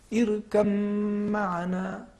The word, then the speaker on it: ارکب معنا: ادا ہو رہے ہیں, لہٰذا یہاں پہ ہم ادغام کریں گے اور پڑھیں گے ارکب معنا, حرف با کو تلفظ نہیں کریں گے.